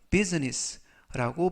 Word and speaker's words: business: 비즈니스 하면 사업이라는 뜻이고요 이때도 발음에 유의하실 것은 비지니스가 아니라 비비라고 발음하시면 되겠고요 그래서 알파벳 아가 이번 단어에서는 무음이라 비즈니스가 아니라 business라고 발음하시면 되겠습니다이 사업은 has 가지고 있다 좋은